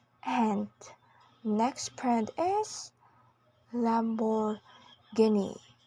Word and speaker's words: Lamborghini: and next PR is Lamborghini in both American and British English with a stress on the third syllable again Lamborghini now let's talk about